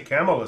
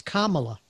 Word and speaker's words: Kamala: is bad the anti- camela stuff is so far worse it really is gotta learn how to pronounce it it's Kamala yeah it's the things